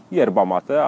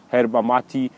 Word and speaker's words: yerba mate: No i praktycznie tak to jest, bo wymawia się yerba mate, ale chodzi o to samo jest źródło właśnie z łaciny. Jest kilka różnych nazw, jest yerba mate, właśnie herba mati, herba maci, przeróżnie mówi się.